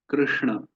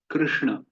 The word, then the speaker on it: कृष्ण: तो कृष्ण, कृष्ण, कृष्ण, कृष्ण नहीं, कृष्ण। देखिए, इसका जो गलत उच्चारण है वो है कृष्ण, और सही उच्चारण है कृष्ण, कृष्ण।